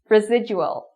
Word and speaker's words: residual: Residual, residual.